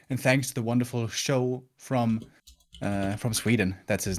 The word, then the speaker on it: Sjow: SJOW? Yeah, they pronounce it Show. Yeah. I don't do that. I won't let him tell me how to pronounce his name. He's Sjow.